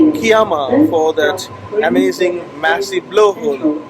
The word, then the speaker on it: Kiama: First couple of minutes of my video I said Kiama, but it's actually Kiama, so excuse me, and rest of the video I'll have Kiama in the pronunciation.